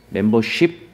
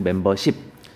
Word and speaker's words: 멤버십: 이런 것도 그 다음에 영어로 ship라고 하는 것들은요 다 10으로 발음해야 되지 쉽이라고 발음하지 않습니다 멤버십 멤버쉽 아니고 멤버십 다음에 스킨십 아니고요 리더십 맞고 리더쉽 아닙니다 나머지 것도 헷갈릴 수